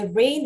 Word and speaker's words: rain: rain, 비가 올 때 rain 할 때에도 A, 왜 A인 거죠? E 불러서 E가 아니고 첫 번째 모음 장모음 A, 두 번째 모음 I, 묵음 그래서 rain이 되는 거겠죠.